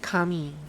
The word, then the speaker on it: Kami: So Chris calls it Kami, the Japanese way. Whereas Ava called it Kami, which is the I don't know what language kind of way.